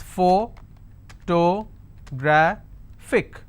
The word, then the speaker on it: photographic: It's pho-to-gra-phic. And since it's ending with IC, I will stress on gra.